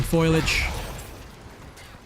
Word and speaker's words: foliage: That's what they get for hugging foliage. Foliage, not foliage. This evil. Foliage. Now. No, it's F-O-L, not F-O-I-L.